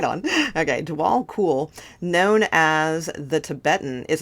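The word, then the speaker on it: Djwhal Khul: on okay dwall cool oh it is pronounced like cool right on okay dwall cool known as the Tibetan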